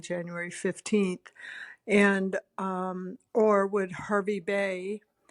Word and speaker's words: Hervey Bay: And or would Hervey Bay, it's pronounced Harvey Bay, but it's spelled Hervey Bay, be a better option for us?